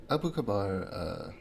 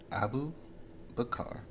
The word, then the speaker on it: Abu Bakar: So Abu Kabar, I'm pronouncing that name so wrong. Let me try this again. Abu Bakar.